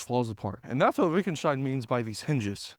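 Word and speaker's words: Wittgenstein: I think he's German, but his name is spelled with a W at the beginning, Vickenstein.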